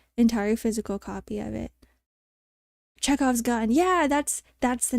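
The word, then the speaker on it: Chekhov's gun: to own the entire physical copy of it cheze off's gun yeah that's that's the name of it cheze off's gun that's how you pronounce it we're learning literature today cuz sometimes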